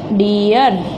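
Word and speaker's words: dear: हमने बताया था कि जो आर आता है वो हमेशा लास्ट में हो तो साइलेंट ही रहता है।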